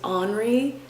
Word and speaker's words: Henri: there's one couple and the kid's name is anri but it's spelled like henry so the dad calls